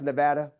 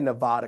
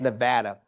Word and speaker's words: Nevada: You know it's pronounced Nevada. I used to say Nevada because I thought it was beautiful. But somebody from Nevada, the state of Nevada said it's pronounced Nevada.